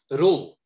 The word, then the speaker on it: Roel: Could you say it for me correctly? Rule. Roel, thank you, sir. Rule.